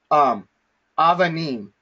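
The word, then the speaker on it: אבנים: So the way that we pronounce this word is avanim, avanim, okay? And avanim is stones.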